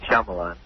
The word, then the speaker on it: Shyamalan: Shyamalan.